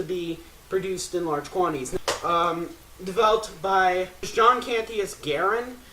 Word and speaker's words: Garand: produced in large quantities Garen he pronounced his own name Garen but US soldiers pronounce name of the weapon garand and so it depends